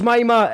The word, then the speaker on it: Mima: So yeah, it was Mima. It's not Mima. Everyone else, Scottish people are wrong. Irish people are right.